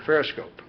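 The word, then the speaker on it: Pherescope: I'm going to spell it P-H-E-R-E-S-C-O-P-E, the Periscope.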